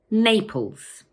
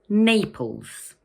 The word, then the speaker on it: Naples: It has two syllables, Naples, and the first one is stressed. So we say Naples. Once more, Naples.